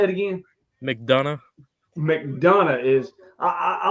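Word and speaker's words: McDonagh: Mcdana.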